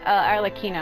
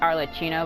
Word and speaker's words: Arlecchino: Yeah, because I got caught by those spikes, and it does something Because supposedly Arlecchino, I've been always saying her name as Arlecchino, but I've been saying it wrong. It's Arlecchino, whose real name is Parawar.